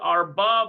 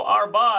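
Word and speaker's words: ארבע: Okay, so the last autobuses are leaving, and we need to put Arba Vahatsi.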